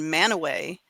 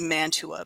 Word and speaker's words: Mantua: Well, our family fights over the pronunciation of the town Manaway, which is spelled Mantua, like in India, Mantua. And my son insists that it needs to be Mantua because that's just, it's spelled that way. And his wife, who is actually she's lived in Utah all her life, she says, no, it's actually Manaway.